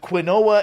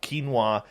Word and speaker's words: quinoa: a tofu diet with quinoa everywhere I know it's pronounced quinoa okay but I prefer quinoa all right I'm putting